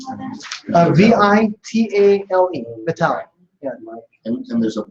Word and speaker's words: Vitale: Hypnotic Writing by Joel, I think it's pronounced Vitale, V-I-T-A. Joe Vitale, yes.